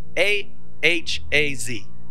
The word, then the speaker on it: Ahaz: was uh haah and um or hazi a a h a z is that what it is ahaz is that